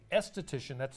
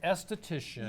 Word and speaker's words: aesthetician: It's just the A Careful. is silent. The A is silent. Okay. It's still the same. So esthetician Yeah.